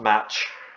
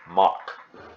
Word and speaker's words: Mach: Okay, Mach number, not match, Mach, okay? That's how it's pronounced.